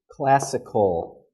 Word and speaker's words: classical: So this is occurring in a consonant cluster. Okay, we have k and we have l together. Cl, cl. Okay, so remember what I mentioned before about non-aspirated sounds. They appear in consonant clusters, right? So we have a consonant cluster here. So we're not going to give a very strong k sound.